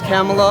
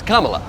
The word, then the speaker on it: Kamala: begins if they could only decide how to mispronounce that name I'm surprised Cala even has a chance no one likes camela they wanted carela in and that's what I don't like to hear about the Camala thing why do you say her name like